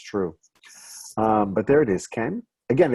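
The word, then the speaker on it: כן: But there it is, Ken. Again, it's not Ken, K-E-N, like Ken and Barbie, and it's not cane, like cane sugar, but somewhere in between.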